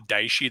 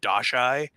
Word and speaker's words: Daishi: He's like, he used to call the Daishi the Dashai. I'm like, that's not how it's spelled.